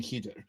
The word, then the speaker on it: Khidr: The Islamic story of Moses and Khidr, and that's spelled like Kadir, and I'm going to try and say Khidr because that's closer.